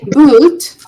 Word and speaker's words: boot: Okay, so if I say bull, bull is short, bull. If I say boot, it's a bit longer.